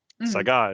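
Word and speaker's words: Saiga: guns out of Russia Saga is how it's pronounced uh it's an animal and anyone listening I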